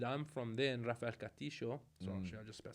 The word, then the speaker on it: Castillo: And in my neighborhood in Argentina, which is Rafael Castillo, which is Castillo, yeah.